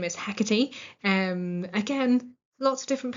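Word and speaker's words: Hecate: We also have another villain whose name is Hecati. Um again lots of different pronunciations of this name. Heckit, whatever I say. Hecky.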